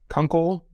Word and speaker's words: Kunkel: my name is Kunkel pronounced like Uncle but with a K in front of it uh glad to be